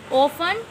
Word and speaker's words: often: Often, T silent.